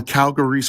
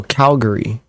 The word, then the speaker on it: Calvary: I always assumed it was spelled Calgary, but Okay, Calvary. yeah, no, that's Someone in the thing is correcting me. It's you guys pronounce it Calvary.